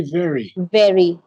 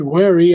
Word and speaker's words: very: How do you say very? Very, very. Well, there it is. It's voiceless. Voiceless. It's the same V. Okay. If you said wary, I would be concerned, but you say very.